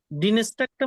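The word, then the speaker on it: Dienstag: দেখে বলেন বলতে পারবেন হ্যাঁ পারবো ওকে মুনটাক ডিনস্টাক মিড মিড বুকে তারপর জনটা জনস্টাক ভাই আপনি আবার বলুন তো মনটা হ্যাঁ ডিনেস্টার মিড বুখে তারপর হলো ফ্রাইটাক তারপর হলো জন্টা তারপর হলো ডিনেস টাকটা মনে হয় বলি নাই আমি ওকে ভাইয়া আপনাকে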